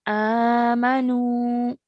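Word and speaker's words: آمَنُوا: So we need to stretch for 2 counts as we've just learned at the beginning of today's class, okay? So we're stretching for 2 counts. Amanu, like that, okay?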